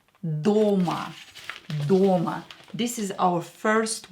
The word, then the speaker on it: дома: O is stressed here. Дома.